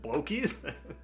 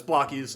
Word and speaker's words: Blokees: pronounce the name because I was thinking, is it Blocky's? Uh yeah, but I can laugh about that now. But it's Blocky's.